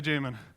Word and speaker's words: Jamon: bit about me I'm Jamin that is how you pronounce my name Jamin if you're from Spain you can say otherwise otherwise say Jamin resolving the great state